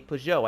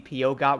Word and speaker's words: Peugeot: I think I said that right. Is that the right way to say that? Because I have heard a few people tell me it is not going to be POGOT, which I've heard people say that, and when I was